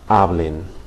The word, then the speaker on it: hablen: or they, okay, hablen, okay, accented syllable again, the second to last, hablen, all right?